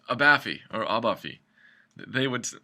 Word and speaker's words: Abaffe: your last name it's abafi or abafi they would my grandfather says abafi so that's I guess how it's supposed to be pronounced okay well so now